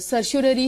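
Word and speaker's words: certiorari: सर्चुररी में क्या है, अब देखो इसका सही प्रोनाउंसिएशन वैसे सर्चुररी ही है, लेकिन ये लैटिन वर्ड्स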